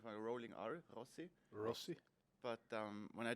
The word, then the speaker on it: Rossi: like a couple times people tell me like Rosie I don't like that at all say so it's Rossi say R like we say back home like rolling AR Rossi Rossi but um when I told was said